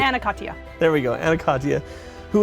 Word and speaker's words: Ana Katya: too much i wanted to nail how to pronounce her name and i just really forced it over correctly and a katya there we go anaconda who is an advocate